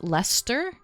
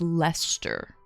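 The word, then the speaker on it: Leicester: They're they're hard, but I think it's Lester. I think you pronounce that as Lester.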